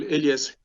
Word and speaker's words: Elias: But I'm going to first, Elias, I hope I'm pronouncing it correctly. Do you have a question? Good morning, all. Am I audible? Yes. Okay. Yes, you pronounced my name very well, Elias.